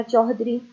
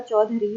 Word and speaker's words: چودھری: سے لکھا جاتا ہے۔ اسی طرح چوہدری، یہاں پہ یہ والا جب بولنے میں بھی اور لکھنے میں بھی یہ لفظ غلط ہوگا اور صحیح املا اور صحیح تلفظ اس کا چودھری ہوگا۔ الحمدللہ، یہاں پہ